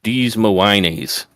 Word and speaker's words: Des Moines: I believe the correct pronunciation is Des Moines.